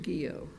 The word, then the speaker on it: Guillot: Guillot. Très bien on your pronunciation, Your Honor. I ought to be able to after all this time. Good morning, and may it please the Court. Guillot on behalf of the appellant, Offshore Oil Services.